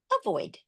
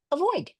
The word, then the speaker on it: avoid: Flex the first vowel to a schwa, avoid. There you go, avoid.